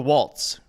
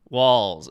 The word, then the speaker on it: Walz: Is it Walz or Waltz? I know it's Kamala. Are we building the walls or are we taking a waltz? Walls. Okay, so I said it wrong in my video.